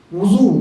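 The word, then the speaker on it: وُضو: اور ہم میں کا اکثر لوگ بولتے ہیں وضو بنا لی کیا؟ واو پر زبر کے ساتھ ہم لوگ بولتے ہیں. صحیح تلفظ کیا ہے؟ وضو واو پر پیش کے ساتھ. اگر زبر کے ساتھ بولے تو کیا ہوگا؟ وضو کا پانی مراد ہوگا.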